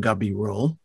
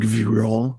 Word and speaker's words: Gabirol: Spain, is Shlomo Ibn Gabirol, for whom Tel Aviv's main drag is named, by the way. And every Israeli mispronounces his name. In Israel, it's Ibn Gvirol, which it wasn't, but never mind.